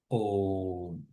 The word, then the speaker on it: Om: Om is a combination of three syllables, right? A, U, M. Actually, we say that Om is not just combination of three syllables, but rather there is a fourth one. The fourth one is silence.